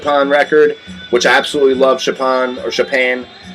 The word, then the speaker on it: Chopin: And then I picked up a Chopin record, which I absolutely love. Chopin. You know, a lot of people pronounce it Chopin, whatever.